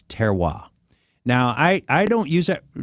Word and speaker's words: terroir: term, and it's called terroir. Terroir. Are you familiar with terroir? I am not. Looks like terrier, only it's pronounced terroir.